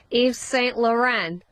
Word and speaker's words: Yves Saint Laurent: Yves Saint Laurent. They're tactics. What'd you say? Eva what? Who? What's the designer? Yves Saint Laurent.